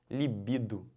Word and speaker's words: libido: Libido. Libido. Libido quer dizer o quê? Desejo sexual, tesão, tá bom? Mas a pronúncia correta é libido.